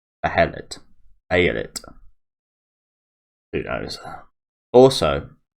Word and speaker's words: Behelit: See, it's spelled there like Behelit. No EA or AE. Behelit.